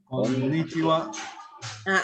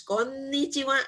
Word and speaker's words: こんにちは: Konnichiwa. Bagus. Konnichiwa ya, ada n-nya. Ya, penekanannya di n.